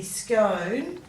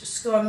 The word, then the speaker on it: scone: a little bit about how we say the word scott so in american english scotland rhymes with tone so it would be scone in british english scone rhymes with gone like scone how we say it